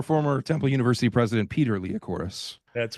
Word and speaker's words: Liacouras: Liacouras. Before AEW Dynamite, which airs live on TV. The Liacouras Center. Yes. I did announce named for former Temple University president Peter Liacouras.